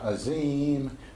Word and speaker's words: Azim: Azim, we did in the dance, yeah, Azim, only we're going to do it with the classical Arabic pronunciation with the Z is a DH sound.